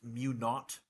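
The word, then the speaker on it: mu naught: I over L you with that zero is pronounced mu not from the bricks so a zero is a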